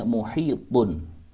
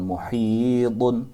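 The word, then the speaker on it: مُحِيط: Dengan cara baca min waraihim muhit. Harus pantul, tidak boleh dengan baca seperti bukan huruf qalqalah.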